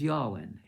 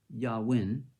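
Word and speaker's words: yayin: Now, the most common is Yawin, Y-A-Y-N, Yawin. I don't know if that's pronounced right or not, but it's spelled Y-A-Y-I-N.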